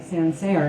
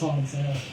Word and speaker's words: Sancerre: "Oh, how about a Sancerre?" And he gets all pissy. It's pronounced Sancerre.